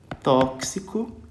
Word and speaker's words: tóxico: exame ó exame e pode ter som de eh KS KS como é o caso do quê gente de tóxico né ó tóxico vai ter som do qu de KS tá beleza bom E aí